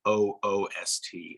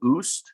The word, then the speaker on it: OOST: And because we immediately get to the topics that matter, I had always abbreviated out of school time as OOST and pronounced it in my head, oost.